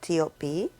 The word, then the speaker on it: T.O.P: And I'm talking about Big Bang's T.O.P or Top, like I like to call him. I know a lot of people refer to him as T.O.P, and I think that that's the correct pronunciation of his stage name.